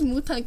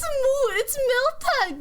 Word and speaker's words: Miltank: What does Mutank even mean? It's Miltank. It's not Mutank.